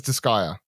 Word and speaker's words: Disgaea: don't tell me it's lighting sliding he says Disgaea sure he does he does he's a link